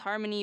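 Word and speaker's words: Harmoney: with the track by the same title harmony pronounced harmony but spelled har money check it out guys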